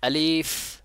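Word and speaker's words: ألف: চেষ্টা করতে হবে তাহলে আলিফ উচ্চারণ করতে বললে বলতে হবে আলিফ আলিফ দেখেন বাতাস জারি হচ্ছে বাতাসটা বের হচ্ছে উপরে যে ভালোভাবে একটু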